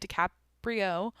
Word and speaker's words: DiCaprio: DiCaprio.